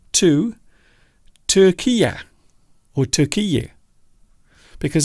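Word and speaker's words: Türkiye: The country known as Turkey has changed its name to Turkiye, or Turkiye, because I believe that is the proper pronunciation of that particular country.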